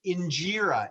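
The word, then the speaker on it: injera: mentioned something that sounded like enjira can you spell that that's the name of the italian dosa no no um injira is ethiopian so that's uh ethiopian sponge bread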